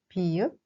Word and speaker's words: 비읍: We pronounce it b, as button in English.